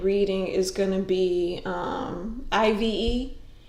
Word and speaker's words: IVE: you need a diet it's pronounced what I've it's not Ive Oh I thought it was a whole initial okay so it's I've thank you thank you